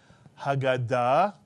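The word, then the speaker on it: הגדה: If you said Haggadah, with the accent on the last syllable, Haggadah, you are correct. By the way, we're used to calling it the Haggadah, but it's actually Haggadah in Hebrew.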